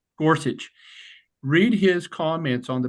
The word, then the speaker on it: Gorsuch: gor gorit how do I say his name Gorsuch Gorsuch read his comments on the braen case and